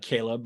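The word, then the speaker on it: Chleb: which is caleb uh caleb remember that's how you say his name that's catherine's boyfriend or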